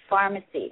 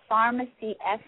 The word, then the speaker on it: FarmaSea: which is now called FarmaSea. And I have to tell you guys how it's spelled because I think it is so clever. It's FarmaSea, FarmaSea, like farming from the riches of the sea.